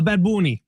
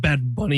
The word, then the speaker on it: Bad Bunny: A bad boonie. That's how you say it, Sammy. It's not bad bunny, you uncultured swine. It's bad boonie.